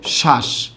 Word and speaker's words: শ্বাস: তাই আমরা এক্ষেত্রে বফলাটা যে আছে এটাকে বাদ দিয়ে দেব। বফলাকে বাদ দিয়ে উচ্চারণটা কি লিখব? শ্বাস, তালব্য স আকার।